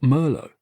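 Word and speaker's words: Merlot: it was weird that you pronounce the T in Met but not Merlo.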